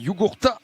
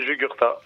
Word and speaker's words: Jugurtha: Tu l'as un peu écorché, mais j'ai l'habitude. Vas-y, je t'écoute. Non, c'est Jugurtha. Jugurtha, ok.